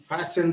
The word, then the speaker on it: fasten: I will fasten the front door. Get your coat, Hop Henry. We'll change it. Fasten. There is a silent letter in this one. F-A-S-T-E-N. What is silent?